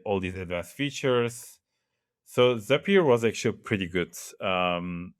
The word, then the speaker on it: Zapier: Zapier is happier. Um that's how they say it, Zapier.